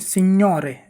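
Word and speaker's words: signore: बोलते हैं जैसे एक उदाहरण और देखते हैं स्योरे एस आई जी एन ओ आर ई स्योरे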